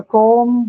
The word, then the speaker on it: comb: But whenever the ma and ba combination comes, when that cluster happens, at the end of the word, you usually don't articulate or pronounce the ba sound. It ends at ma, not ba.